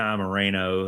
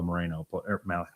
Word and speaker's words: Moreno: You can't have a guy like Malachi Moreno Malachi play 40 minutes. Moreno. Can you roll your R's?